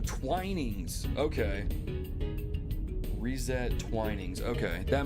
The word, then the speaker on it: Twinings: oh man oh man pronounce the same as the T oh twinings okay reset twinings okay